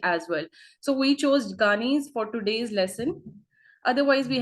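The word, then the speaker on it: Gagné: So we chose Ghani's for today's lesson.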